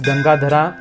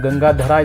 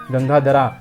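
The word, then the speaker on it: गङ्गाधर: Shiva is called as gangadhara we should always remember that all these names are Sanskrit names and not Hindi names in Hindi the same name is pronounced as gangadhar gangadhar is different and gangadhara is different in Sanskrit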